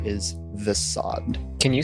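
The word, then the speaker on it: Vessaad: for those of you unaware my name is the sod can you spell that real quick sorry v e s s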